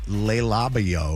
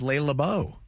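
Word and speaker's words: Le Labo: Well, also you guys pronounce it Leil Labo or whatever the heck you pronounce it. It's Le Labau.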